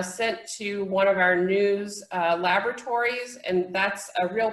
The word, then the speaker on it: NWSS: national wastewater surveillance system nwss we pronounce that news because any good government